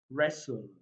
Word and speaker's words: wrestle: So we have silent letter T. So we have castle, we have Christmas, Christmas, wrestle, wrestle, catch, catch, asin, asin, apostle, pestle, rapport.